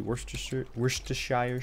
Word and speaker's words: Worcestershire: We actually call it Worcester sauce. You don't pronounce the shire on the end.